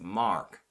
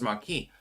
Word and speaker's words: marque: By the way, to be clear, it's pronounced letters of mark. Oh, I thought it was marquee.